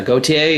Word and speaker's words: Gautier: i'm here today with is it uh gautier is that how you pronounce it it is yes that was so